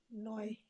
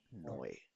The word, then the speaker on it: neu: Neu. नॉय. Sehr gut. तो बिल्कुल वैसे ही इसको पढ़ा जाएगा। Toy.